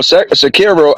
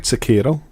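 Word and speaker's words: Sekiro: from software game they got uh you know secure i heard i've been saying it wrong how do i supposed to say a host you said it right sakiro okay so they got sakiro uh which was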